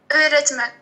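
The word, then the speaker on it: öğretmen: اولى تمان اولى تمان هذيك اليوم مشكي الاو خففتها وطولتها اولى تمان تمام تمام نورمالمون معناها استاذة اورتمان واه واه اورتمان هي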